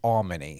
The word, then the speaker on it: Almony: he said to me, just think of all money. It's Almony.